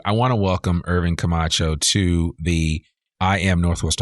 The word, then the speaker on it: Camacho: without further Ado I want to welcome Irvin Camacho to the I am Northwest Arkansas podcast how